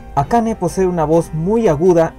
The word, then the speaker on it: ACAね: pero curiosa mujer llamada Akane, cuyo carácter hiragana se pronuncia como Ne. Akane posee una voz muy